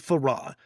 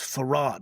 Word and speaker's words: Fard: that points to WD Faradr. And yeah, it's farad, not far. Okay, for those people making those comments, huh? Farad, huh? Two syllables, man. Not far.